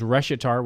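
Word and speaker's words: Reshetar: show in its entirety my last name is reshitar which is spelled a r-e-s-h-e-t-a-r why is that important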